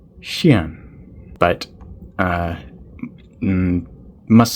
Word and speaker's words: Xuan: know if that's wrong I don't think it's said like Juan even though it kind of looks like it I think it's Shan but uh must say